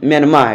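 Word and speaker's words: Myanmar: नाम म्यांमार ठीक है वर्मी भाषा में आर का उच्चारण ज्ञात किया जाता है अतः सही उच्चारण म्यांमार ठीक है हमारा विश्व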